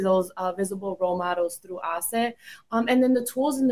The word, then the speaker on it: HACE: We call it HACE or ACE. If we pronounce it in Spanish, they can be a part of that.